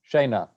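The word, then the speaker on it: scaena: It becomes kind of a sh sound. Okay. Shayna.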